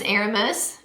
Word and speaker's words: Aramis: is my channel name my real name is Aramis Aramis a or a but moose is just so